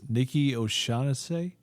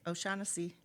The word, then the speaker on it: Nikki O'Shaughnessy: and me introducing the name, not forgetting and trying to pronounce it right, I'm going to say it's Nikki O'Shaughnessy. You got it. O'Shaughnessy.